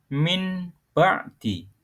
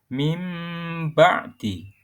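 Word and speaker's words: مِنْ بَعْدِ: Contohnya, min ba'di dibaca mim ba'di.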